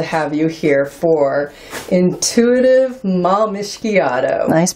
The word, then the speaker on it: Malmischiato: so thrilled to have you here for intuitive malmishgiado nice pronunciation thank you it took a few tries